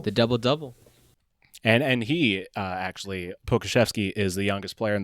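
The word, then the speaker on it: Pokuševski: these teams, but I will say that guy Pokachev, I might say his name wrong. I'm going to be honest. I think it's Pokashevsky.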